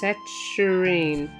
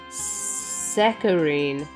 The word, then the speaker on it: saccharine: Saturine. Oh, sorry, I'm saying it wrong. It's saccharine. Really?